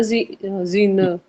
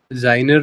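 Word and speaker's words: seiner: की साउंड आएगी जाई एस के आगे इ आई है तो एस के बाद बोलो आई जाई नर हो गया तो हिज ओके इसका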